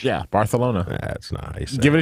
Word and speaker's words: Barcelona: Barcelona with a TH? Yeah, Barcelona.